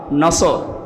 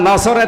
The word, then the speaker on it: নাসর: এই জন্য যারা এই সূরাটা পড়তে গিয়ে সোয়াদ না বলে সিন দিয়ে উচ্চারণ করেন, আপনার কিন্তু নামাজ হবে না।